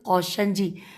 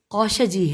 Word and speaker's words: قوشجی: بھی دی گئی۔ چنانچہ فاضل قوشنجی، ہجے کرتے ہیں فاضل قوشجی ہے، قاف واو شین جیم چھوٹی نے اپنی شرح تجرید